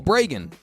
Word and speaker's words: Bragin: ban bran the way I the way the way I remind people it's pronounced like it's pronounced like President Reagan it's pronounced like President Reagan with a be in front I'll tell a quick